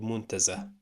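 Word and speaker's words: منتزه: That's called muntazah. It's always pronounced ha, okay?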